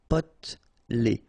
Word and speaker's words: potelé: Okay, here you don't really pronounce this E. Potelé.